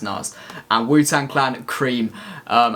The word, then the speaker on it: Nas: have three tracks today we've got biggie hypnotized nars nurses like and woo tangle i really wanted